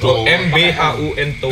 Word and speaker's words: Buntolo: Gimana cara pengucapannya? Buntolo. Oh, Carito Buntolo. BHUN Tolo. Buntolo. MBHUN Tolo.